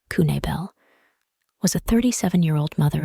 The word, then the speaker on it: Knabel: people goes missing herself Andrea Michelle Kabal pronounced kunel was a 37-year-old old